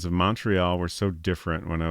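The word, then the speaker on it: Montréal: The English and French pronunciations of Montreal were so different. When I was growing up, I thought they were two different places. H. What's the French pronunciation of that? Montreal.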